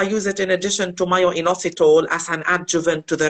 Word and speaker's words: myo-inositol: And a question is, myo-inositol, is that how you say it? That's right. It's myo-inositol, which is, most of the studies have been on myo-inositol.